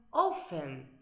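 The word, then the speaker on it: often: Estamos por debajo, en el número dos tenemos ofen. Fíjense que no pronuncio la t. Ofen.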